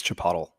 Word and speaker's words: chipotle: me yeah it's uh it's pronounced in the great country of Mexico as Chipotle that can't be right